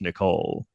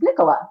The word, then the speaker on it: Nicola: or why not just Nicole thank you that's a great question my dad is British so in England it's Nicola it's a totally normal